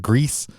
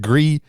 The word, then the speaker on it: Gris: in French and Spanish, it's pronounced gris in French and it is pronounced Grease in Spanish.